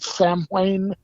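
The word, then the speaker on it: Samhain: ancient celtic festival oh uh i may be pronouncing it wrong but i i believe it's called sam wayne yeah yes yeah you're really good which actor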